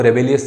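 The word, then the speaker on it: Rabelais: फिर इसके बाद में फ्रांसिस राबले, हालांकि स्पेलिंग में आपको रेबेलियस जैसा दिख रहा है, लेकिन फ्रांसिस राबले उच्चारण इसका ऐसा ही होता है।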